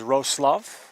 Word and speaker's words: Wrocław: We are live from Wrocław, Poland. Better known as Wrocław, is the correct pronunciation.